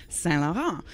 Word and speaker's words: St. Laurent: And that's where a lot of people might pronounce the town's name more like Saint-Laurent.